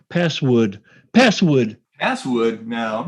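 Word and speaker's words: passwd: password change command um password isn't it p-a-s-swd uh no it's password oh okay well so never mind not such a good story but I remember you saying password password no I'm not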